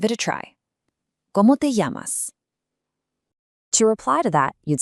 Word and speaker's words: llamas: That double L in llamas actually creates a Y sound. ¿Cómo te llamas? Give it a try. ¿Cómo te llamas?